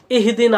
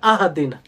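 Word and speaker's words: اهدنا: কি আছেনা সিরাতাল মুস্তাকিম এই শব্দটাকে ইহদিনা এই শব্দটাকে কেউ যদি পড়ে আহাদিনা কি পড়ে আহাদিনা তো এটা হবে লাহান এমন লাহান এমন উচ্চারণে পরিবর্তন যাতে অর্থ পরিবর্তন হয়ে যায় কি হয়ে যায় অর্থ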